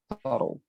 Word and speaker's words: subtle: The pronunciation is like this. Subtle.